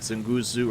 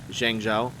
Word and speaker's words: Zhangzhou: I've always mispronounced, and everybody I've played with mispronounces the shit out of this map. We always call it like Zenguzu or Zengazi or whatever. We're idiots. The correct way to say it, at least the correct way this American can say it, is Zhangzhou.